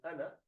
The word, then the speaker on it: أنا: Wherever you find this alif in ana, this alif is not pronounced. It is only written, you do not pronounce it. So ana is without alif.